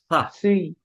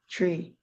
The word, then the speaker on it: three: in belong in group six and in Period three three okay look at the word three it's three it's three three three Tre no it's three three three yeah it's pronounced like three okay so next one is